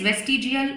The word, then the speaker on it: vestigial: Now we are towards the third evidence, that is vestigial organ. Now, what do you mean by vestigial organ? Vestigial, first of all, look on the spelling, because it is not waste, it is west, V-E-S-T.